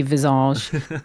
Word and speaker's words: Visage: us scummy sers say no one ever wants to say it properly but I can confirm it's it's a French Game Dev so it is actually meant to be Visage um like 80s synnth pot band Yes um well we